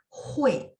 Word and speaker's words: 会: dia UI, jadi sebenarnya pas baca itu selipin e ya, jadi hui.